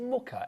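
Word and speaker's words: Mucha: Is it Muka? M U C H A. Is that how you spell it right?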